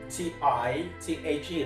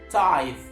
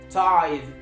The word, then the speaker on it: tithe: it makes you rhyme people often rhyme it with tight t i g h t that is not the right way to pronounce this word t i t h e the right way to